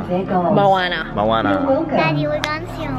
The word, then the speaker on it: Moana: Is that Moana or Mona? Moana.